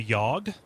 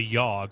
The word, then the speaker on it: The Yawhg: I played several times a game called the yog oh is that the weird Choice game yeah